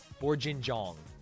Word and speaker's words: bourguignon: The G is pronounced like in Jif. Bourguignon.